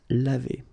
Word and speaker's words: lavé: So clearly, phonetically, you've got only one form, and it's lavé.